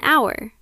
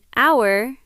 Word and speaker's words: hour: Use an before a vowel sound like an apple, an egg, and an hour. In hour, the letter H is silent.